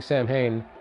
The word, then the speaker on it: Samhain: Kudos to her, by the way, for pronouncing Samhain the way Danzig insists on.